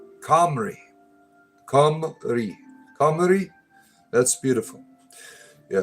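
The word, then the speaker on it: Cymru: The best way I could describe the way you pronounce would be Comrie.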